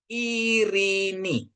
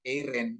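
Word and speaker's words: Ειρήνη: Jadi bacanya irini ya. Irini. Kalau nama di Indonesia kan sering ada namanya Eiren gitu ya. Namanya siapa? Eiren. Itu sebenarnya salah pengucapannya ya, tapi no problem ya, nggak apa-apa.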